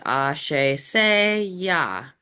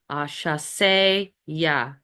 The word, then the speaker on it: Asase Yaa: And when you're doing it, you want to invoke, and again, here's the pronunciation. It's Asase Yaa. Asase Yaa.